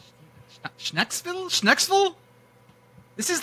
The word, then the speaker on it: Schnecksville: Dutch Pennsylania Dutch almost it wouldn't be like I'm I'm just going to say like skille oh hit the C hit the C like a k I like that yeah